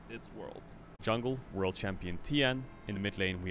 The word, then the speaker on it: Tian: This guy's name, the jungler's name, you pronounce it Tien rather than Tian. If you see an A, I-A-N, normally it's N rather than An. It's a slight kind of pronunciation difference.